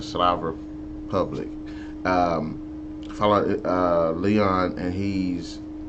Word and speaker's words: Slav Republic: I kept wanting to say Slavic, but it's, yeah, the Slav Republic.